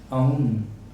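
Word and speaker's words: own: Verbs of possession, ये 4 हैं, belong, ओ, इसको सही प्रोनाउंसिएशन इसका है आउ, इसका है आउन, ओन ओन सब कहते हैं, मैं भी ओन ही यूज़ करूँगा।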